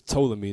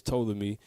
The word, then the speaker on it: Ptolemy: So you had the 4 that was ruling was Cassander, Ptolemy. Actually, it's Ptolemy. That's not, the P is silent. It's Ptolemy, Lysimachus, and then Seleucus.